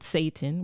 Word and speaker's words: seitan: The soy-based type, the seitan based type, it's Seitan, you know, I don't know, but you pronounce it seitan, which I think is a terrible name for anything that could possibly be good for you.